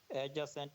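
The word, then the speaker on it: adjacent: Angle कहते हैं एडजेसेंट में, याद रखिएगा ये डी जो है वो साइलेंट होता है, ठीक है।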